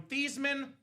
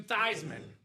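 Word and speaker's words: Theismann: He changed his last name from Thesman to Thyisman, hence Thyman for the Heisman.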